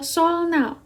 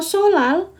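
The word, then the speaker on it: 설날: Karena kalau solnal, jadi kayak harus ada perjuangan bagi kita membacanya, solnal gitu. Tapi kalau solal, jadi dia kayak langsung aja gitu, solal.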